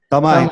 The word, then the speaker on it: Thamay: E o último nome aqui do professor é Tamai, a pronúncia é essa ou não? Tamai, correto. Exatamente, japonês.